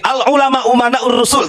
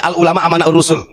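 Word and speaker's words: العلماء أمناء الرسل: begini Bahar bin smit Al ulama umanaur rusul Tapi bacanya Al ulama amanaur rusul saya katakan salah kenapa Karena di sini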